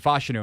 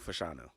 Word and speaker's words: Fashanu: any Gonzaga Intel onu it's Olu fashanu okay we're going fashanu then why didn't you correct